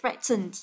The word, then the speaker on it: threaten: Và động từ thì là threatened. Đấy, trọng âm của nó rơi vào âm thứ nhất.